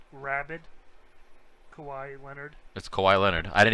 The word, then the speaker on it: Kawhi Leonard: is that you're talking about yeah yeah it's kawhi leonard rabid kawaii leonard that's kawhi leonard i didn't even know what